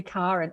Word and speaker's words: Karen: It is specifically Karen. It's actually the Scandinavian pronunciation.